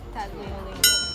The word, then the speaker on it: tagliolini: I think how would the Italian pronounce it? Taglini. Tagliolini.